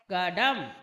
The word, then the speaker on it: கடம்: கப்ப கடகம் கடம் என்ற சொல்லை எவ்வாறு உச்சரிப்பது என்பதை பார்ப்போம் க ட ம் கடம் க ட உம் கடம் அடுத்த இணைய அலகு ரண்டில்